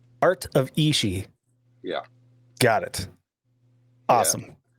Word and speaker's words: Art of Ishi: Art of Ishi. Art of Ishi. Yeah. Got it. Awesome. Yeah. I would have butchered that.